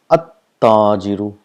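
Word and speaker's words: التاجر: If you see here, we pronounce this at-tajiru. So we got a single dhamma, and the sound of lam is not produced, and the letter next to it gets a shadda. It's at-tajiru, at-thawbu, ad-diku, az-zahabu, ar-rajulu, as-samaku. So this is how it is pronounced. The lam becomes silent.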